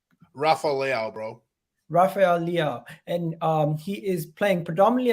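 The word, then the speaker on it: Leão: to Rafael Leon. Is that how you say his name? Rafael, bro. Rafael Leao, and he is playing predominantly as a left winger this season.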